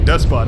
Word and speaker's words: Despot: You don't, if you're saying depot is spelled similarly, but you don't pronounce the T, but Despot, I believe you do pronounce the T.